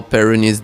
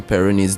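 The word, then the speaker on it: Peyronie: I mean well um there's something we call peronis disease.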